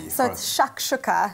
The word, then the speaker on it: shakshuka: than hearty breakfast for Latinas the Atlanta dispersal pronounce it properly shakshuka I wasn't very enticing and the spice mix